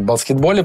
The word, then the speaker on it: баскетбол: баскетбол А это а это правильное произношение филологически Ты знаешь что да баскетбол - это неправильно баскетбол правильно ты знаешь Ну нет не знаю